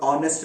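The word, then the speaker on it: honest: इसके बावजूद भी एच कई दफा प्रोनाउंस भी नहीं होता। मिसाल के तौर पर ऑनेस्ट में हुआ, ऑनर में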